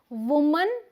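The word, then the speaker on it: women: फिर है वुमन एंड विमेन, वुमन एंड विमेन, इसे हम विमेन पढ़ेंगे, इसे हम वुमन पढ़ेंगे। यहाँ WO को वू बोलेंगे, यहाँ WO को वी बोलेंगे।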